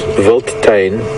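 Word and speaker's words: Wildtuin: African word mentioned uh the word is voltain which is the way it's pronounced but it's it's written if I had to say phonetically willd wild t-u-i-n-tina vote is directly translated to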